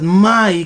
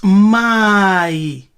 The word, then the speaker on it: mai: The Bantu, it's mai. The M is silent.